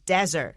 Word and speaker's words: desert: 那么我们知道这个 Jesus 刚才讲他出生的地方就是以色列这个地方，那么这个地方呢原本呢就是很偏远啦，所以呢它基本上就是一个沙漠区。好，那这个字要念成 desert，记得名词当沙漠，不要念成 dessert 就像 ice cream chocolate，好，就大家都很喜欢的。好，所以在这个沙漠区里面呢，他当时呢就是这样子行走了40天，所以这些信徒为了纪念这样的一个日子，所以呢就在这个大斋节这样的一个期间去纪念。